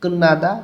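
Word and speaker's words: 끝나다: শেষ বা শেষ করা তধ্বনি বাচ্চামের পরে নিউজ এজন্য ত টা ন উচ্চারণ করতে হবে কুন্নাদা শেষ বা শেষ করা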